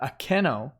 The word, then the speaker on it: Akeno: Ara says, Boomeroo, her name is pronounced closer to Akeno.